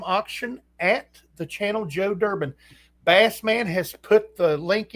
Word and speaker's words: Durbin: Durbin, from the coin channel Joe Durbin. It is spelled exactly like it sounds.